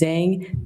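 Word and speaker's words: Zheng: That's spelled. Last name is Zang.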